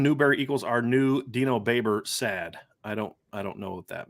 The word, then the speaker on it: Babers: Our new Dino Baber. I don't get that. It's Dino Babers.